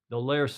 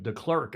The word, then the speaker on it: Delerce: more about an deers delers they were calling him Del clerk on the television but it's not cler how do you pronounce